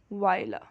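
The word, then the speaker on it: Viola: वायला। ठीक है? ये उर्दू में इसको वायला बोलते हैं। और इंग्लिश में इसका जो है ना ओ साइलेंट हो जाता है। इसको वाइला पढ़ते हैं।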